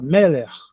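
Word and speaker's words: מלך: Aí nesse caso o acento fica no começo. Em vez de falar meler, eu vou falar meler.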